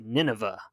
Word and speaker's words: Nynaeve: One, like Nynaeve, this is just some random person online, claims that Jordan pronounced it Nineveh, which is crazy.